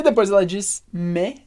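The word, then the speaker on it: mais: todavia me me E você já sabe que a gente pronuncia me porque a gente não lê o s do final e o ai e você sabe que a gente pronuncia me porque a gente tem o s no final que a gente não lê e o ai como Regra geral tem som de E então i me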